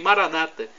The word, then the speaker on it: Maranata: aramaico dialeto de Jesus Maranata que significa vinde Senhor Jesus os evangélicos ou protestantes nossos irmãos separados dizem Maranata com a tônica na penúltima sílaba não importa somos irmãos